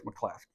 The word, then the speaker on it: McCluskey: I was told to make sure it's Mcclaskey. Yes, pronounce it properly.